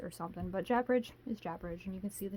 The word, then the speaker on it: Japaridze: I looked it up on Google, that's what it told me, so Japaridze it is. To me, I would say like Japaridze or something, but Japaridze is Japaridze, and you can see the title right there.